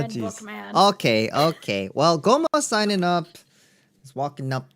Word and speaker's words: Gomo: That's spelled Gomo. It's just Gomo.